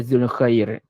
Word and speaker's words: Dzul Khairi: Macam orang putih kan dia banyak huruf tambahan di depan tapi tak dibacakan pun. Jadi saya tu pun D tu dipanggil harfuz ziyadah. Huruf tambahan yang tak dibaca pun. Dia baca Zul Khair.